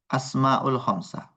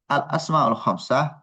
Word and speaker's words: الأسماء الخمسة: ثم الأسماء الخمسة وجدنا أيضا كثير من الأخطاء الشائعة في نطق أسماء الخمسة. الصحيح الأسماء الخمسة يعني بالآلف واللام في هاتين الكلمتين، يعني الأسماء الخمسة ليس أسماء الخمسة.